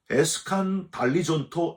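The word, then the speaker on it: ἐσκανδαλίζοντο: 예수를 배척한지라 라고 되어 있는데 헬라어로 에스칸달리존토 엔 아우토라고 발음을 합니다.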